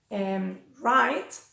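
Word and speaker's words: write: También pasa cuando va seguida de R, como right o wrong.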